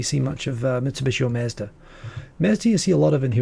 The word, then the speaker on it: Mazda: Do you say Mazda? Mazda, yeah. Oh, really? We say Mazda. Mazda's probably the better Japanese pronunciation. Japanese say Matsuda, right?